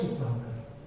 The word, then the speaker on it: Sukhtankar: वी.एस. S-U-K-T-H-A-N. सुखतांकर K-A-R. V.S. Sukhtankar.